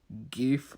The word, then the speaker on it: GIF: difference so it's a gif with a hard G almost 50/50 Wow and